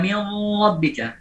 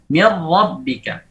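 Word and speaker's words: مِن رَّبِّكَ: Contohnya apa? Mir rabbika. Tidak kita baca mir rabbika. Tidak kita baca seperti itu, tapi mir rabbika. Dua-duanya hilang. Bagian hidungnya hilang, bagian lidahnya juga hilang.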